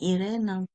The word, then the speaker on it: IREN: Oui, Irene, on le prononce en français.